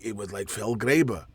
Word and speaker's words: Felgraber: But he talked like this, and it was like Felgraber. That's how he pronounced his name, Felgraber.